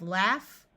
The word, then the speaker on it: laugh: short o sound cough in these words Au rather than having its normal sound of a will have a short a sound so we have laugh laughing and laughable notice